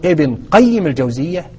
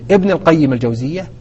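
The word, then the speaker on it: ابن قيم الجوزية: ابن لمدير المدرسه الجوزيه فاما ان تقول ابن القيم يعني ابن المدير او ابن قيم الجوزيه ابن مدير المدرسه هكذا ينطق اسم هذا الامام العلم اذا فبهذا نعرف ان من يقول ابن القيم الجوزيه يخطئ في طريقه قراءه اسم هذا العلم وهذا يذكرني ايضا ايضا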